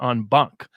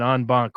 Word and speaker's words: en banc: But in the States, we call it en banc. We actually pronunciate the C.